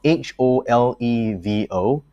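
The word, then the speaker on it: Holevo: to pronounce this one is it jolevo or hobo it's spelled h-o-l-e-v-o right so i'm gonna assume it's ho levo capacity for post shannon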